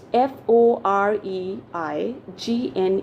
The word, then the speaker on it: foreign: spelling okay so it's f o r e i g n e r and how do we pronounce it foreign okay so in this case what is silent g is silent okay for a no